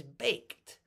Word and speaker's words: baked: Like, when you see the past tense of bake, is baked, not baked. No, not baked, baked. We have a T sound at the end.